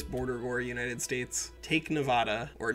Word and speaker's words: Nevada: you creating this border War United States take Nevada or Nevada as the the white people from there will tell you it is pronounced all right so in order to hit